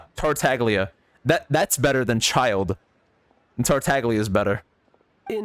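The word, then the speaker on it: Childe: second exactly call me child that's how you say that it's not chill day it's child that's that's way less cool what so we're supposed to dote on you yes silent e that's stupid chill day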